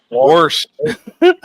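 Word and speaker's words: Warsh: I know it's W A R S H. The second time I said it right. Worst. Yeah, that's like that's like state of Washington.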